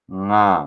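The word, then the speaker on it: ङ: Your mouth should be open. Your tongue should not touch your palate. When pronouncing this, nga, nga. See, my mouth is open. My tongue is down. It is not touching the palate.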